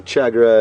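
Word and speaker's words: tchagra: There goes the chagra again. Interesting name, the chagra. It's spelled T-C-H-A-G-R-A.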